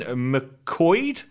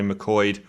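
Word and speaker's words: McQuoid: box office to simon mccoyd it sounds like i'm mispronouncing that but that's such a weird spelling m-c-q-u-o-i-d mcqueen it's an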